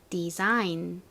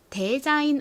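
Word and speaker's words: design: 단어는 어떻게 발음하시면 될까요 s의 소리가 지읒 소리로 바뀌는 것에 유의하면서 디자인 이렇게 발음해 주셔야 되죠 따라해 보세요 디자인 디자인 대자인 아니고 앞부분이 D 소리가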